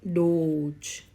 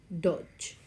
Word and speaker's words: Dodge: is short W so the short sound of letter O that is O and the long sound of letter O It's a o so how can we read this word it's Doge Dodge not Doge it's Dodge next we have this word